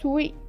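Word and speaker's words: 水泳: We say it sui, not swimming. It's sui in Japanese, the correct pronunciation.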